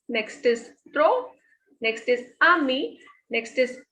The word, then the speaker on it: amis: Next is AMIS. S is the last consonant. We will not pronounce this.